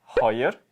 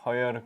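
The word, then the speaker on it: хоёр: 넥, 허열, 고롭, 두룹, 타옵. 네, 1부터 5까지 발음을 닉, 허열, 고롭, 두룹, 타옵 이렇게 얘기를 합니다.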